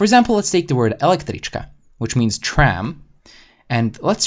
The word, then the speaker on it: električka: Now, make sure to really put the accent on the first one and not on the second or third syllables because it'll sound very iffy.